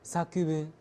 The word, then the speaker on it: 作: 们说作文也是念成 sakuun。